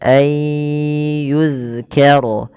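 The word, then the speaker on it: يُذْكَرَ: Hati-hati dalam melafalkan zal jangan dibaca dengan yuzkaro tapi dia yuzkaro. Yuzkaro tipis dalnya.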